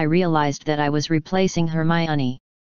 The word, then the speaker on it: Hermione: that i was replacing hermione her name sounds like harmony and that kind of rhymes with pinky i should see if